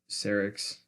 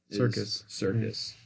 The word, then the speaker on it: Serkis: The actor for Gollum, Andy Serkis. Serkis.